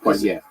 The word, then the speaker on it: Poilievre: So I think yes, Pierre Poilievre will be an obvious massive improvement over. Is that how you say it? I mean, if you say it with the proper French accent, yeah, it's Poilievre.